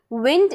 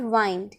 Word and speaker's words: wind: जैसे कि विंड एंड वाइंड, विंड एंड वाइंड. तो आपने देखा WIND विंड, WIND वाइंड. Spelling same है लेकिन बोलने का तरीका दोनों का अलग है.